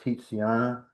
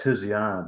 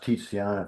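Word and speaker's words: Tiziana: Her name is spelled T I Z I A N A Titiana. It looks like Tisiana, but it's actually pronounced Titiana if you're Italian.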